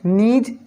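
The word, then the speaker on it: gneiss: तो foliated rock के example हो गए नीज, स्लेट, सिस्ट, फेलाइट। यहाँ पे जो GNIESS है और यहाँ पे जो G है कैपिटल, यहाँ पे जो G लिखा गया है वो जो है साइलेंट है, GNIESS।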